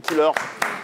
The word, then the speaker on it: Kil'heur: Donc, c'est au suivant et l'artiste c'est Killer, ça s'écrit K-I-L-H-E-U-R.